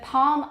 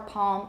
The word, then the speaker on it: palm: half salmon palm almond now half and salmon they never have an l that's produced or that's sorry that's pronounced but palm almond can either be palm almond or palm almond i tend to have something of a dark l i have velourization so palm almond one of my teachers said that but i say palm can you hear the